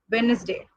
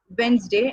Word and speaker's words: Wednesday: okay, this word, the day, we say as Wednesday, Wednesday. So this is the way we pronounce it in a wrong manner. How we should pronounce the word Wednesday? It should be pronounced as Wednesday and not Wednesday.